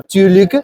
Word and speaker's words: tillykke: Bueno, esta palabra que se pronuncia algo así como "tschülik" significa felicitaciones y se usa para un montón de...